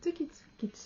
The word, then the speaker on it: TookyTsuki: Hello and welcome to the Tukitsuki channel. It's a little hard to pronounce.